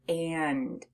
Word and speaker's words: and: A and an N, it sounds like it's coming through your nose, which is why when we say the word and, you actually feel a little bit of a buzzing in your nose. Say the word and. I feel my nose buzzing.